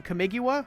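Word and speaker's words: Kamigawa: around Oni cult Anvil it's an artifact from camigua which is how you pronounce that whenever one or more artifacts you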